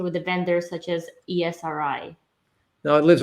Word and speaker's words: Esri: i figured i'd say it wrong so it's esri okay got it good to know thanks so